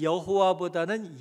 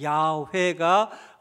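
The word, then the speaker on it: 야훼: 주세요 거기 보시면 이 야회 여호와라고 하는 이름은 사실 여호와다는 야외가 더 발음에 맞는 발음입니다 그런데이 하나님의 이름 야외를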